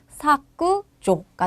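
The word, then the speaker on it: 削除: 받침이 기억인 경우에는 일본어은 쿠가 오게 됩니다. 무슨 말이냐면 삭제라는 단어가 왔네요. 기억 받침이 왔죠. 그러면은 이거는 코로 받아서 사그조가 돼요. 사그조 이게 삭제이고요. 또 하나 체크하고 싶은 거 조 장음이에요, 단음이에요. 단음이죠. 짧게 꾸조라고 외워 주세요.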